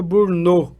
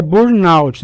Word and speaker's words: burnout: Eu vi que tem muita gente que pronuncia burnô. Então, querido, não é um nome francês não, viu, minha gente? Tá? Se fosse o nome francês, a pronúncia seria essa, burn, né? Mas é burnout, né?